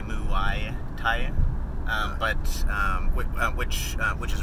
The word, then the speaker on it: Muay: In Thai, the ua is a official diphthong in Thai, and ua is one sound, one syllable, and then the Thai has ua, or sorry, Muay has ua, and then a y at the end, and when you combine y with anything, then it's still just the same syllable. So it's mua e for muay.